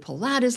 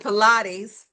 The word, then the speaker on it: Pilates: I stretched or did Pilates like a runner.